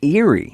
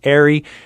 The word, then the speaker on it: Eyrie: trail sign it looks like it should be pronounced eerie yeah i see that it's spelled e-y-r-i-e but pronounced arie and the word refers to a large nest